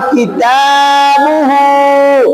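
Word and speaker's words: كِتَابُهُ: বা উল্টা পেশ আছে সেখানে এক আলিফ টান হবে তাহলে কিতাবুহু কিতাবুহু তাহলে এই শব্দটার মধ্যে এটা হবে তাড়াতাড়ি এটা হবে এখানে টান এটা হবে তাড়াতাড়ি এটা এক আলিফ তাহলে বুঝে উচ্চারণ করেন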